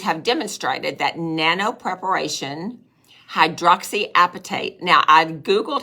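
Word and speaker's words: hydroxyapatite: demonstrated that Nano preparation hydroxyapatate now I've Googled how to spell that and it just cracked me up because it sounds like appetite right you eat the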